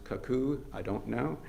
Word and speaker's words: Cuckoo: keeper in Louisa County in I believe it's pronounced caku. I don't know. Cuckoo.